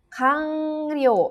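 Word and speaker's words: 完了: Kanryou. Ini kanji selesainya dibacanya kang karena bertemu dengan kanji lagi ya, kanryou.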